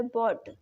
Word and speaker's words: bought: ठीक है गाइज, और एग्जाम्पल है इसके, जैसे लिखा है बॉट। बॉट की स्पेलिंग क्या होती है, BOUGHT। तो यहाँ पर लास्ट में क्या आया है, UGHT। तो यहाँ पर यू क्या है गाइज, साइलेंट है।